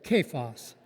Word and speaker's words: Cephas: Cephas.